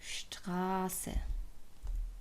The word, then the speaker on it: Straße: after the letter 's', the letter 's' is pronounced /ʃ/. Like the word that we've learned 'Straße'.